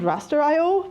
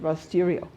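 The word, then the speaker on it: Rasterio: as with gll actually he calls it rer iio but everybody else called it rerio um for the r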